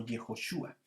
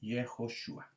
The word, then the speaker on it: Yehoshua: Se pronuncia, la primera parte es Yah, y por lo tanto ahí Yehoshua.